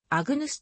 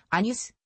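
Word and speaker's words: Agnus: 多い例えばのは古典式とドイツ式ではあぐぬすと発音するがイタリア式ではアニュス厳密には gn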